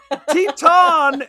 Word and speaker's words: Teton: It's Teton is spelled like Titan with an E on the end. Teton.